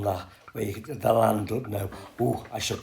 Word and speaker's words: Llandudno: Look how they've done that, where you get the Llandudno. Oh, I should correct myself, Llandudno.